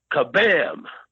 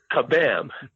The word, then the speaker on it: Kabam: It is called, I want to pronounce this right, Kabam. I keep wanting to say Shazam, but it's Kabam. K is in kite, A-B-A-M, Kabam.